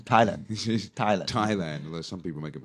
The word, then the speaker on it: Thailand: I guess it's something to do with the Thai language. Yeah, because really. the Thai comes from the Thai language, and we should not pronounce it as an English word. That's right. Yeah. And we put the H in there just to somebody has to confuse us.